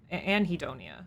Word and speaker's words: anhedonia: hedonia and and heon anhedonia okay you pronounced the h e is the lack